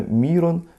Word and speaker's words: Мирон: Мирослав получил православное имя Мирон в честь священномученика Мирона кизического ударение следует ставить в этом имени именно на первый слогмин Мирон ржек оканчивает кливанское